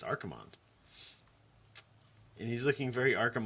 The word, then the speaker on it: Archimonde: a review of Archimonde I know somebody's gonna tell you and then it's spelled Archer Monday no no it's it's definitely Archimonde Archimonde is named after